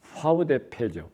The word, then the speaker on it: VDP: 들어 있는 것이 있습니다 그기이 영어로는 vdp vdp 있데 뭐 독일어 이 알파베트 발음으로 하면은 파우데 페지 파우 데페 어이 vdp 그 멤버가 된다는